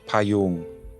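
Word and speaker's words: พะยูง: En thaï, ce palissandre s'appelle Payoong, prononcé avec une voyelle longue, Pa-yoong.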